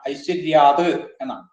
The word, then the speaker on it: ഐശ്വര്യാത്: അടുത്ത വരിയില് ഐശ്വര്യാത്, ഐശ്വര്യാന്നാണ്, ഐശ്വര്യാത് എന്നാണ്.